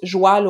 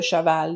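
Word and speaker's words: cheval: dire tu parles comme les personnes qui prononce joêl au lieu de chaval donc les paysans les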